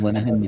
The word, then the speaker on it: Linehan: That was of course the writer of Father Ted, Graham Yeah, Lennon. Graham Linehan, yes. Linehan, that's it. Yeah, Yes. I Everyone can write pronounces his name, but I his have name.